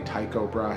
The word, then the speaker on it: Tycho: Tico brah hey that's how you pronounce the astronomers name but it could be Tycho Brahe he I feel like Tico sounds more correct anyway 86 km/h 14,500